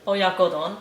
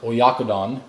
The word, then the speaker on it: Oyakodon: Oyakodon. Oyakodon. Oyakodon.